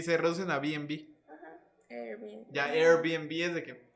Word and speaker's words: Airbnb: Airbnb. ¿Cómo? Creo que sí. O sea, ahora pues vas ahí a hospedarte. Airbnb. Ajá, Airbnb. Es de Air, de aire, y B&B de Bed and Breakfast.